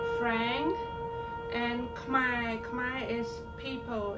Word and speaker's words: Khmer: get off from chatting one of the famous Khmer news social media, and they are a YouTuber too. It's the abbreviation is RFA Khmer, R like Richard, A like Apple, F like Frank, and Khmer is people, it's our people.